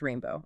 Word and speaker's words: R41NB0W: And GR33N acts as the arranger for a group called R41 NB0W which is pronounced rainbow obviously.